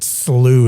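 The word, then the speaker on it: Shough: And so, shout out yesterday to Tyler Slooh is how you say his name, but he's the New Orleans Saints quarterback and I'm friends with him.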